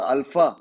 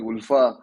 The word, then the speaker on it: ULFA: संघटनेची स्थापना झाली आणि त्याला अल्फा या नावाने उच्चारण आसाम मध्ये केलं जातं आपण जरी त्याचं युएल एफए असलं आणि उल्फा हे साधारणत असायला पाहिजे पण आसाम मध्ये त्याला अल्फा अल्फा म्हणतात तर अल्फा ची स्थापना